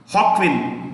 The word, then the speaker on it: Joaquin: Joaquin, J को H pronounce करते हैं.